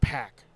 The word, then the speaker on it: PAC: You know his it's supposed to be pronounced pack or whatever.